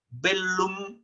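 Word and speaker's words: bellum: sino pita vela igual en latín se pronuncia en la l por separado la doble l bel lum significa guerra no habita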